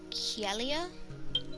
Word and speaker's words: Kyelia: So lake, that would be Kielia. Yeah, I like that. Kielia. and that's spelled Kyelia.